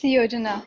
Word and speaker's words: Yojana: Yojana, is that, am I pronouncing this correctly? Hi, it's Yojana. It's Yojana.